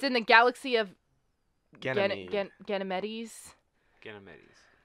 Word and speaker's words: Ganymede: Ganymedes. Ganymedes. I think it's pronounced Ganymede. Ganymede? Okay. Yeah, I don't have the S. at the end of it.